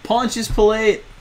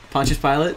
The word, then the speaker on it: Pontius Pilate: me I think so how do you pronounce that its punches pilot Pontius Pilate yeah okay I actually